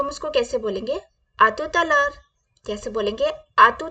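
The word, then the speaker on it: à tout à l'heure: break करके बोले please break करके आराम से प्रोनाउंस प ध्यान दें कैसे बोलेंगे आ तुत लर आ तुत लर आत लर आ तुत लर नेक्स्ट वर्ड इज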